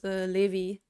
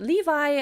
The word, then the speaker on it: Levi: mess yeah over here his name would be pronounced Levy but Levi I also am familiar with that kind of pronunciation mostly from Attack on Titan though no it's not